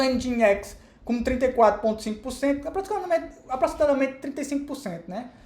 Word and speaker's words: Nginx: Então, os servidores web mais populares que a gente tem hoje em dia é o Nginx, se escreve N-G-I-N-X, mas se pronuncia Nginx.